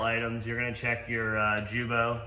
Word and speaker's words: Guibo: You're gonna check your Jubo, which is the Guibo for most of you guys. It's actually pronounced Jubo.